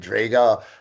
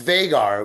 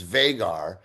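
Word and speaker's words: Vhagar: I got to play and Draga. Well, it's Vagar. We said it wrong last week. It's Vaggar.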